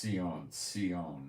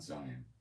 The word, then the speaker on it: Zion: It's pronounced Sion, not Zion.